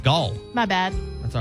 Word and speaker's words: Gal: Gal, it's Gal.